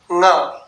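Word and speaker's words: ङ: क ख ग घ ंग अब अंग नहीं बोलते हैं इसे इसे बोलते हैं ंग तो ध्यान से सुनिए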